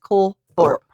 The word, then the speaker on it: Colthorp: It's pronounced Cole Thorp.